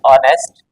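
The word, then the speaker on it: honest: ए लगा दिया जबक जब का उच्चारण करेंगे ऑनेस्ट इस तरह से तो उस कंडीशन में एच तो साइलेंट है तो वहां पर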